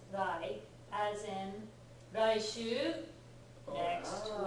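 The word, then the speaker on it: 来: Kuru, which, by the way, this kanji by itself, when it's the onyomi, the Chinese reading, is usually pronounced rai, as in raishu, next Ah.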